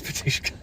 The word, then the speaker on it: Batushka: It is BATUSHKA.